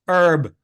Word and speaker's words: herb: Plus, neither of you know how to pronounce herb.